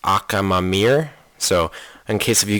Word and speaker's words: Akhamamir: the wind infant whose awakened name is actually pronounced akam mamir so in case if you guys don't know